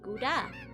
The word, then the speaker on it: Gouda: Wearing Gouda with a hard G. Gouda. Ah, so like everybody else. I mean, you're allowed to say it wrong. I won't stop you. But the cheese ain't made of goo.